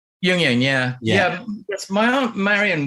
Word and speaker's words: Jungian: Well, did I pronounce it right earlier? Jungian. Jungian, yeah.